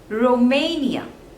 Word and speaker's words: Romania: seconds label next is Romania Romania there are three syllables and the stress is on the second one Romania Romania Romania next